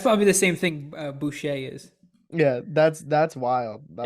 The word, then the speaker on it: Boucher: is that Waterboy no his name's Bobby Boucher that's why it's not butcher yeah oh I all